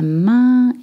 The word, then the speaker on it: main: La main, we don't say la main. La main is the hand. La main with the un sound.